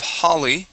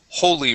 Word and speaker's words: holy: there you go okay let's go to Holy so instead of Holly this is Holy room Holly Hol room